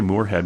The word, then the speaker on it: Morehead: By the way, that last name is spelled with one O, Morehead. Everybody wants to put 2 O's in there. Oh, yeah. Sometimes I'll say Morehead, but it's actually Morehead. Yeah. Like Morehead.